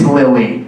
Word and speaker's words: Lily: here at BYU uh our next Comics name rhymes with silly and Billy it's Lily everybody foreign I just